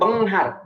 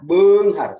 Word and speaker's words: beunghar: Bukan benghar, beunghar. Sebab di dalam bahasa Sunda, E dan U itu dibacanya E. Begitu.